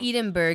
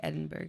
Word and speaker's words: Edinburgh: know what i mean but like edenberg because that's in uh in uh england england you know how you actually say that how because how do you say that no edinburgh right it's not enough edinburgh yeah yeah it is edinburgh oh who's [ __